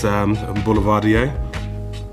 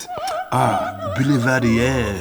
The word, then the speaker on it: Boulevardier: We have one great question, which is how do you pronounce Boulevardier? It's Boulevardier. Or if you want to say it in French, Boulevardier.